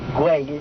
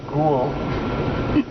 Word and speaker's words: Güell: So that's why we can still pronounce güey and not have any trouble, which in Spanish would be unusual. Apparently it's one of the most mispronounced words in Barcelona. I've heard it being called ghoul. Park ghoul.